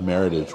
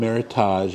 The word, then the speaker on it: Meritage: And it's kind of like a Meritage wine. If you've heard of Meritage wines, don't call them Meritage.